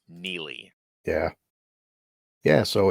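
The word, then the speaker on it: Neagley: him yeah always say her character always say negly just because the way it's like spelled it says like it's any AG it's spelled NE yeah it's spelled negly but it's pronounced Neely yeah yeah so it's like oh that that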